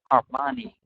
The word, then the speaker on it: harmony: Harmony. Yes. Okay, good. Only by minimizing his ego can they live in harmony. So again, I would put the stress on the first one.